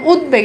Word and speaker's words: উদ্বেগ: যদি বফালা যুক্ত থাকে তাহলে সেই বফালা এর উচ্চারণ থেকে যায়। যেমন উদ্বেগ এখানে দেখেন ব আছে উদ্বুদ্ধ।